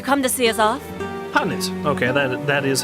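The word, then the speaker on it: H'aanit: Hanit. Okay, that is how that's pronounced.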